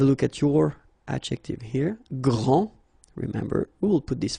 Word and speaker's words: grand: here for the masculine gran so you don't pronounce the final d will be exactly the